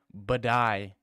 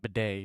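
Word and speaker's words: Buday: But you're not even, is it, okay, first off, it's Martin Badai, not Bidet, it's Badai. Okay, it's completely disrespectful to purposely mispronounce someone else's name.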